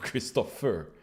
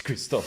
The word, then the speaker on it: Christoph: yeah yeah indeed hey kristoff there is already a question for you in the uh in the chat let me put it on christoph of christopher it's kristoff i think is there any reason